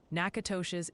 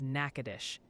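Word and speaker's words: Natchitoches: Nakatosh's is Nakadish, and Opelousas is Opelousas. Thanks for looking out, David. I didn't know if it was Opa or Appa. Now I know.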